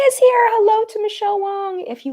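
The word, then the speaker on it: Wang: Hello to Michelle Wong. If you like high-end makeup reviews, go check out Michelle Wong. W-A-N-G, though, is her last name, but it's pronounced Wong.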